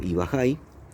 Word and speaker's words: ubajay: Yo al finalizar el video les voy a dejar la prueba del sabor del ubajay, que es este, que en guaraní lo pronuncian algo así como ibajay, y la ubaya que tenemos acá.